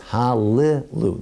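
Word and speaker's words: הללו: There's never two consonants together in Hebrew. So rather it's hallelu. There's a short I. You pronounce the Sheva. Hallelu.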